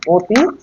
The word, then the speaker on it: অতি: এটা দেখো অ আছে অ যদি অ এর মত উচ্চারিত হতো তাহলে এটা হতো অতি কিন্তু এটার মূল উচ্চারণ আমরা কি করি অতি ও এর মত উচ্চারিত হচ্ছে বুঝতে পারছো এইভাবে তোমাদের